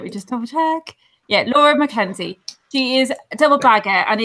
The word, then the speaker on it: Laura McKenzie: Yeah, Laura McKenzie.